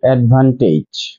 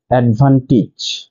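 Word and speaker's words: advantage: এডপটিড number seven এই ডি ভি এই এন টি এই জি ই আমরা ভুল উচ্চারণ করে বলে থাকি অডভান্টেজ। এডভান্টেজ কিন্তু এর সঠিক উচ্চারণ হচ্ছে এডভান্টেজ এডভান্টেজ নাম্বার এইট আমরা ভুল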